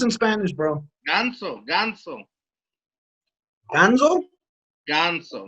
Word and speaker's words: ganso: Ganso, not Gonzo like you're like the Muppet Babies, but Ganso.